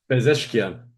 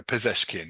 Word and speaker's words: Pezeshkian: I'm tempted to say Pezeshkian, but I'm mangling it. Pez. Oh, I can't even find it. Can we Iran's president or whatever? Yeah. Some Ah, Bezeshkian. Pezeshkian. I can't pronounce it right. There we go.